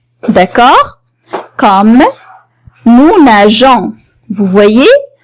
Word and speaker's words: nageons: Comme nous nageons. Vous voyez, on a ajouté E justement pour prononcer la lettre G, pour pouvoir prononcer la lettre G comme J.